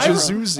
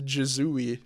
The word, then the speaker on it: Jazooey: Yeah, I said dude, Jazoozy. I remember that. Yes. In the script, it actually says Jazooey, Oh. and I've been mispronouncing it.